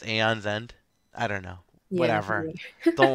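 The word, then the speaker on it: Aeon's End: feel like people say Aon's end sometimes. I say Aon's End. Yeah, like aon like well right there's Eon Flux and it's about the same way as Aon's End.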